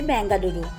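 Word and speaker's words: ಬೆಂಗಳೂರು: কন্নড় ভাষাতে এর উচ্চারণ হচ্ছে বেঙ্গালুরু, আর অফিসিয়ালভাবে এই শহরকে বেঙ্গালুরু বলা হয়।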